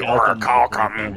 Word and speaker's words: orichalcum: I'm pretty sure it's actually orichalcum, but if you want to pronounce it wrong on your show, I guess that's up to you. Found that stuff in Terraria, and then everyone had to tell me how to say it all the time. If you want to remember how it rhymes, just say oral calcum, and...